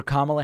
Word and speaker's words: Kamala: That's Kamala Harris. And I'm kidding. It's Kamala.